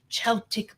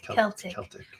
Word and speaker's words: Celtic: Yes, Celtic. Why do I say it wrong when I see it? Yes, because you want to say Celtic. Why do I want to say it? Because cello is CE.